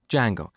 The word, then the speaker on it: Django: D Jango so it's spelled with a silent D and it's pronounce Jango it's a web framework